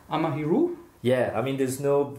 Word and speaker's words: Amahiru: i pronounced it right amahiru yeah i mean there's no right well there's no right way to pronounce it because it just comes from a dream i had but yeah were you